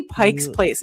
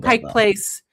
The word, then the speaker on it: Pike Place: from Pike's Place, Pike, I always say Pike's Place if people get like on their their asses about it. I'm sorry, I I'm going to say it wrong. Um, but Pike Place Market.